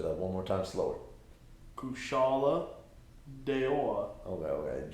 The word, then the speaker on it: Kushala Daora: Kushala Daora. Okay. Just that first syllable. Ku? No, Kush.